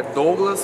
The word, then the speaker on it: Douglas: Meu nome é Douglas. A pronunciação certa é Douglas, Douglas.